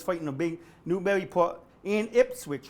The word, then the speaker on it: Ipswich: Everybody's fighting the big Newburyport and Ipswich, which rhymes with sandwich, which we're gonna get tonight.